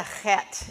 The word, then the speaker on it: het: so let's pronounce the het and it's that scratchy feeling in the back of your throat pet if it's not